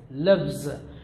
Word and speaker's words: loves: Similarly, he loves, loves. This is the reason why, because the sound, the yes or es after the voice sound, usually sound z, lives, but loves.